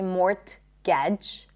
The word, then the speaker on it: mortgage: Mortgage. We don't say mortgage, right? Mortgage.